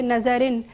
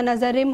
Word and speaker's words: نظرم: آپ نے فارسی کلام پیش کیا, اس میں کچھ مسٹیکس تھیں تلفظ کی, جیسے آپ نے پڑھا کہ نظرن نہیں ہوتا, نظرم ہوتا ہے, ٹھیک ہے, اس طرح کی اور 2-4 غلطیاں تھیں.